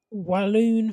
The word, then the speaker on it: Walloon: Right, the first one is walloon phobia. What? Walloon phobia. Walloon phobia. Like balloon, but walloon.